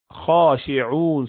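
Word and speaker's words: خاشعون: So it is khashi'un. So you're saying khashi'un, although you're not seeing alif there, but you're pronouncing that alif, and hence that is small alif sitting at the top to hint to that.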